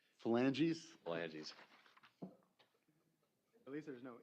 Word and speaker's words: phalanges: If the court needs pronunciation, it's pronounced phalanges. Phalanges?